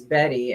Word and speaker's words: Bette: So Charlotte's middle name is Betty, and it's pronounced like there's a Y, but it's spelled Bet, Bette.